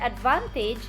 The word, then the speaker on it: advantage: The word advantage has the main stress in van.